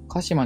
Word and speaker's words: 神島: 今回は鹿島についてお話しさせていただきます。